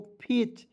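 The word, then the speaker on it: fetch: और देखिए टी सी एच तो सी एच का लिख देंगे च। ठीक है? टी यहां पे साइलेंट रहता है।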